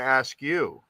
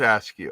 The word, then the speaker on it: Askew: i was going to ask you how are you pronounced i'm going to say luke askew i think it's ask you i knew somebody with that name and they pronounced it ask you but um but i